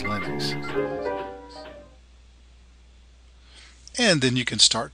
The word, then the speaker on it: Linux: Hello, this is and I pronounce Linux as Linux.